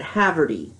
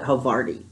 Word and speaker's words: Havarti: I have had Havarti cheese I've used to pronounce it Haverty because that's looks like you know with the